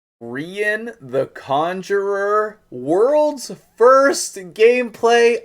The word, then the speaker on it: Rian: agreed sort of that this champion should be pronounced rhian like um what what what's an example like centurion um or any any words that end in ian like it's kind of